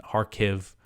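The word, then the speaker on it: Kharkiv: har I double checked you know the Ukrainian pronunciation and harv uh seems to be it um you know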